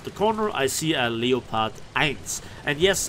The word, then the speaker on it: Leopard: corner I see a Leo pod eyes and yes I always pronounce it the German way because why not because the English pronunciation of Leo part would be leopard and that sounds more